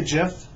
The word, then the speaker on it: GIF: Do you say GIF or JIF? I heard you're supposed to say JIF. But if I see the word G-I-F-T, I do not pronounce it JIFT. So I just pronounce it GIF.